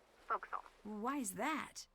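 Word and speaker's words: forecastle: ship but it's pronounced fokal why is that try pronouncing it like an English sailor with no formal education SP Castle folville over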